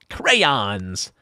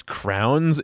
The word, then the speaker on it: crayons: If someone pronounces crayons as crowns, you have my permission to like cleave them in twain with a great sword.